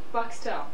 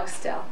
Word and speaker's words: Buckstell: Buckstell. Right, Buckstell. Okay. With the accent on the stell. The L. Buckstell.